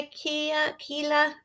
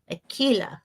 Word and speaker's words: Aquila: quick hi peret hi Ikea Kila I'm so sorry I say your name wrong sweetie Aquila okay um but it